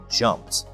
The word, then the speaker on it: jumped: This means that we pronounce it as "jumpt."